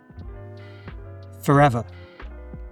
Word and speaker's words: forever: Forever. Forever. There are two schwas. Forever. So we have one at the beginning and one at the end.